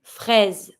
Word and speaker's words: fraise: Une fraise. Careful when you pronounce it. Strawberry, fraise, you see that the S here is between two vowels, between the I and the E.